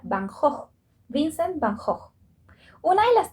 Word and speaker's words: van Gogh: no usaba su apellido que en holandés se pronuncia bahnhof vincent bajo una de